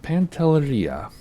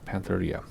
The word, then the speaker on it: Pantelleria: And then land at Pantelleria. So, Pantelleria. I keep wanting to say it like Spanish. It's not. It's Italian.